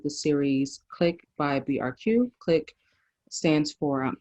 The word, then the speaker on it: QLIC: series click by brq click stands for um it's qlic and that is pronounced click like i said um and it stands